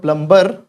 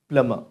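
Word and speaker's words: plumber: तो बिल्कुल नहीं बोलना एम के बाद बी भी साइलेंट होता है in most of the cases right तो इट्स नॉट प्लमबर इट्स प्लमर प्लमर प्लमर प्लम प्लमर प्लमर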